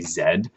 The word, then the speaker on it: Zed: would be Zed so we're saying instead of Z Americans say Z but Canadians say Zed um uh there's also